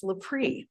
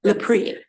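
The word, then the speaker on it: Lepre: say it correctly absolutely it's lepri Lei yes lepri yes okay let's Mo for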